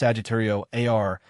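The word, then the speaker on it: Sagittarius A*: The focal point of this bustling center is an object known as Sagittario Asterisco, pronounced Sagittario AR, a super massive black hole that weighs approximately 4 million times the mass of our sun.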